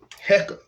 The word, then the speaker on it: Heka: the science there's a there's a science behind the word uh hecka being pronounced like that and i'm going to